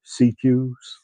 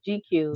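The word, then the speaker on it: CQ's: CQs. CQs. Yeah, Okay. CQs. I thought Yeah, it was GQs. GQs. GQs, not GQs. CQs.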